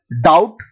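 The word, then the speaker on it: doubt: मतलब होता है गलत अगला है डाउट डाउट का मतलब होता है संव इसमें जो बी है वो साइलेंट है अगला है ओपन ओपन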